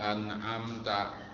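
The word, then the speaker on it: أنعمت: Atau mengganti huruf ain diganti huruf alif, Siratal ladzina an'amta, itu kan an'amta. Jadi huruf yang pertama alif, annya itu. Yang keduanya amnya itu ain. Jadi an'amta. Kalau bacanya an'amta itu mengganti ain oleh alif, tidak sah.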